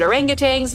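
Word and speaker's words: orangutans: want to help critically endangered orangutangs yes that's how you say it already under pressure from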